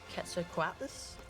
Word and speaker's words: Quetzalcoatlus: We've got a Quetzalcoatlus. That's how you pronounce it.